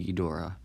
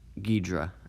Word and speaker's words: Ghidorah: And basically Daiei wanted to create their own version of King Ghidorah, or Ghidra, depending on how you like to pronounce it.